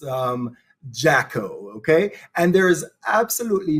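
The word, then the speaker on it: Jacquot: mean she is absolutely gorgeous it's it's the jacko um pronounced um jaco okay and there is absolutely no visible difference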